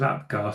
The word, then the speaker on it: Apgar: So is it APGAR? Do you pronounce those things as APGAR scores?